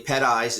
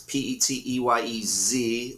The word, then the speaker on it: Peteyez: Peteyez, it's Peteyez, like zebra.